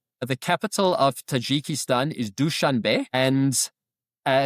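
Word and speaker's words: Dushanbe: The capital of Tajikistan is DuchanB. And uh it's spelled D U S H A N B E.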